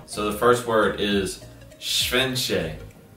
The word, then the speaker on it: szczęście: And she's gonna tell me the words after I guess them and if I pronounce them right or wrong. So here we go. So the first word is szczęście. Szczęście.